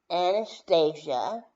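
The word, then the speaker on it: Annastaziah: Anastasia, and you can spell that the traditional way, but I like to spell it A-N-N-A-S-T-A-Z-I-A-H. The H is silent, of course.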